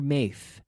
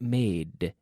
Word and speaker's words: made: make yesterday I made I don't want to hear maith but made did with my tongue touching behind my teeth made okay don't make a